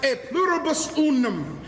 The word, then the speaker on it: e pluribus unum: It's pronounced e pluribus unum.